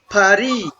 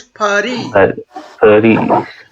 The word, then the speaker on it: Paris: This is a French word, so we try to pronounce it like French will do. Okay, Paris. This is not Paris. This is not Paris. You can say Paris. Paris is not wrong.